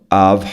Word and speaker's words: of: Tá falando ali, right in front of her. Esse cara, você pronuncia ele com som de of. Of. É um som de V.